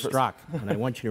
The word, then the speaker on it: Straka: It's spelled Straka, but it's Straka. Is that correct? You nailed it.